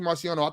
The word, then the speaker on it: Marciano: Marciano.